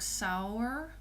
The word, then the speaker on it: sauerkraut: You would pronounce it like sauerkraut.